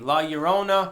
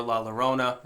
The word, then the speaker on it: La Llorona: time to talk about via cult video 193 La Llorona or La Llorona I've heard it pronounced both ways Bloody Mary vanishing hitchhikers some